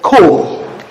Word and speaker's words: comb: The B that comes after this M is usually silent, and that is why we pronounce this word comb.